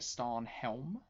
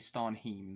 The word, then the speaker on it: Starnheim: I keep pronouncing it Starnhelm. Yeah, definitely Starnheim though.